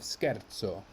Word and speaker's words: scherzo: in the next word why is this because of the h scherzo where we have sc h which turns this into a k if it were just s c e we would have shea as in shame but we have scherzo rule here bruschetta often